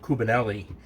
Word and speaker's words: Cubanelle: We're using Cubanelle, or some people might pronounce it Cubanelle.